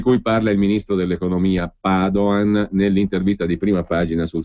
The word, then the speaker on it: Padoan: In ogni caso farà parte anche questo dei conti solidi di cui parla il ministro Padoan, mi raccomando con l'accento sulla prima A, perché non è di origini venete.